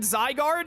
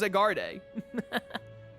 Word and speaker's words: Zygarde: I read the word Zygarde and then tried to pronounce it as Zagarde.